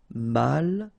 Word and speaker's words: malchanceux: Final X not pronounced. C-E-U, ce, malchanceux. Malchanceux.